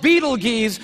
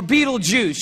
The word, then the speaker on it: Betelgeuse: heard about this star it's called beetle geez or Betelgeuse you can pick your pronunciation I'm obviously going with Beetlejuice and Betelgeuse is incredible